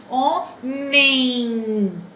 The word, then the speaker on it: homem: Ó, o O, porque o H no início das palavras não tem fonema, não tem som. Homem.